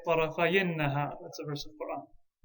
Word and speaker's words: طرفي النهار: So because it's idafa, we'll drop the noon. طرفي النهار. And then to pronounce it, we'll have to say طرفي النهار.